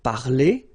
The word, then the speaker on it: parler: So infinitive parler. So if you remember, we saw that previously. So, I mean, this combination of two letters at the end of the words normally gives the sound e.